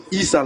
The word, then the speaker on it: Issa: Issa là. C'est comme si tu mets Is, 2 S. Il n'y a pas Y dans Issa.